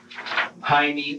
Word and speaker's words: Jaime: Do you know an individual by the name of Jaime or Jamie Goff? Yes, I do. The J in Jaime here is pronounced with an H sound, like it would be pronounced in Spanish.